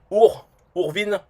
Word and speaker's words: OurWin: OurWin, rien que pour le prononcer bien, il faut être au courant, parce que en français, je dirais Ourvin, voilà.